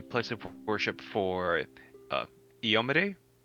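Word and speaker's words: Iomedae: of worship for uh iyomeday is that you pronounce it ayomide I've always heard it ioma diet but I think you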